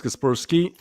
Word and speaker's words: Kaspersky: Okay, 2 people tell me it's Kaspersky. 1 person told me, hey bro, why are you not pronouncing it Casper Sky?